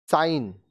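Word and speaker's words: sign: अब देखिए ये जो अब वर्ड्स हम लोग पढ़ेंगे इसमें जी साइलेंट होगा। साइन, चिन्ह, साइन, चिन्ह।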